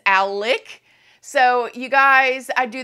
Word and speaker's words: Alec: for the fact that he is convinced his name is Alex because it's spelled Alex you said Murdo no I didn't but I heard him say himself in the trial his name is Alec so you guys I